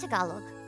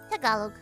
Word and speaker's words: Tagalog: uh by the way I pronounced Tagalog as Tagalog until like 3 weeks ago that's okay um that's how a lot of people that I've met pronounce it but it is Tagalog Tagalog um oh yeah that